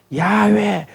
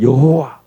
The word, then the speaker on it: 여호와: 찬송가에는 야훼라고 안 나오고, 여러분 영어 찬양 보면 뭐 야훼 이러고, 뭐 어떤 사람들 제호바, 영어 성경이 보면 또 전통적인 들으면 제호바 이렇게 하잖아요. 우리는 여호와, 한국식 발음이 여호와입니다.